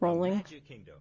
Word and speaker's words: Rowling: My point in saying all this is that I really feel like, and I think I'm saying her name wrong. I think it's Rowling. It's Rowling, yeah.